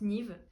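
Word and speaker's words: Niamh: pas comment on dit ça s'écrit niam mais je crois que ça se prononce Nive Kiara Siara Elena Léonie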